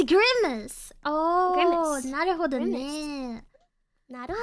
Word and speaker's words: Grimace: I heard you pronounce it in your stream. I thought it was so cute. You're like Grimage. Oh, it's not... So I'm behind it's Grimace.